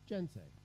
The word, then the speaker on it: GNSEI: USAID is supporting this global community through its membership in the Global Network for Securing Electoral Integrity, GNSEI, pronounced, so you'll hear this, GENSEI, which launched last week to a global audience online.